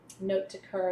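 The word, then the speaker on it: note de cœur: Note de coeur is how you say it in French.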